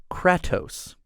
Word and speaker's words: Kratos: to the column and fun fact it's actually pronounced kratos fun fact for the day guys that's it